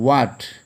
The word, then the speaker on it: what: Next one, what, W-H-A-T, what. In this word, H is silent.